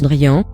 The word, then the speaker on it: Drin: D'ailleurs, c'est à ce moment précis, qu'il va faire la connaissance de Drin, mais qui se prononce Drian, qui est l'un des sages de Tomassi, et qui va leur servir de guide à travers leur voyage.